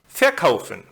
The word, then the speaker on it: verkaufen: And in the group of inseparable verbs, the second syllable is stressed, as in bekommen, gewinnen, verkaufen. And always remember, there are